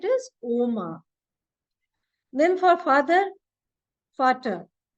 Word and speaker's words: Vater: Then for father, Vater. It is not Vater because V is pronounced as F in German.